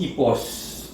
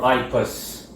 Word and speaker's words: Ipos: a Google Experience um he's called epos or ipas depends on how you want to pronounce it in any case IPOs so I'm gonna pronounce it in like what I think is the original form epos uh Latin most likely or I post in English it does not matter